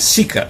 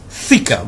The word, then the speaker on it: thika: It is actually not sika, it's thika, but he cannot pronounce that.